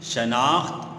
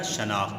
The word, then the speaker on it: شناخت: کا نام اس کی شناخت ہوتا ہے۔ یہ لفظ کیا ہے بیٹا؟ شناخت۔ بہت سے بچے اسے پڑھتے ہیں شناخت، جو کہ غلط ہے، اس کا درست تلفظ ہے شناخت۔ یعنی ہر اسکول کا